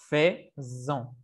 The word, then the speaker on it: faisons: Entonces, aquí, como tenemos una S solita, la pronunciación va a ser faisons. Faisons.